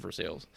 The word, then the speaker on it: Versailles: it is funny it's just better to save for sales well I think that's actually how they say it it is I'm pretty sure that they say everyone from Versailles calls it for sales yeah I'm pretty sure that's just how they